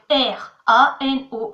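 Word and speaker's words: ráno: C'est R-A-N-O, Rano. Et l'accent en haut, c'est justement pour pas qu'on dise Rano, c'est pour qu'on fasse l'accent. Sœur, on dit Sestra.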